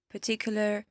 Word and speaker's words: particular: On a tendance à prononcer or, R. Non, c'est juste prononcer comme si c'était ER. Donc actor, particular, elevator.